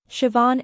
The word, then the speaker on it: Siobhan: The BH is pronounced as a V, and the A sounds like on.